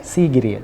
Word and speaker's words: Sigiriya: But we'll go up north to Sigiriya. Sigiriya. How do I pronounce it properly? Sigiriya. Sigiriya.